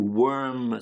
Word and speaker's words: worm: them out Next to worm something out of somebody. Now important to you to get the right pronunciation? Worm warm worm. Warm to worm w o r m to worm.